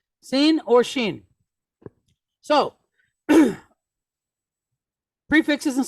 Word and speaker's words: Sin: so like I said dot over the left sounds like an s God over the right sounds like sh it and it's when it sounds like sh it's pronounced shin and when it sounds like s it's pronounced sin okay sin or shin so